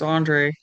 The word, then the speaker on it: Andrej: When it's a J at the end, it's like, how do you, I don't know. Probably Um, just Andre. Andre. Yeah, I mean, it's spelled Andre. It's just with a J at the end. So, yeah, I think you're right.